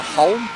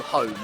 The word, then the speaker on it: Holm: I think maybe just for consistency's sake, we'll go for Holm, Adrian Holm, as opposed to Home.